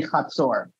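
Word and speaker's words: חצור: the confederation of Hazor, which in English you might want to pronounce as Hazor or something like that. Hazor, but in Hebrew it's going to be Hazor.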